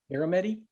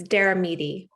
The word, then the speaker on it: Daramidi: how do you say your last name? Aramedi? It's Daramidi.